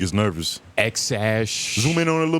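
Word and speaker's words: X Æ A-12: Joe Rogan I mean it's just x the letter X and then the AE is pronounced like ash which makes no sense and then a12 a12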